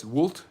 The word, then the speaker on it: vult: Deus vult refers, by the way, it's vult. V is actually W in Latin, like almost in German it's the reverse. The W is a V.